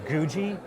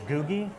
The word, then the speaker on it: Googie: called, I believe it's Googie architecture, possibly Googie. It's the word Google, but replace the L with an I.